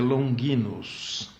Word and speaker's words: Longinus: Na pronúncia mais correta, em latim, seria Longinus.